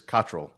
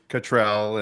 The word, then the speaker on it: Cottrell: So, my the correct like English pronunciation is Katrrol. Katrrol. That's right. Katrrol. Now, I have I'm very used to hearing Catrell and all kinds of